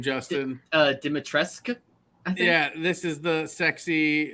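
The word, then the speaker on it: Dimitrescu: how do you say her name justin uh dimitreska yeah this is the sexy vampire lady from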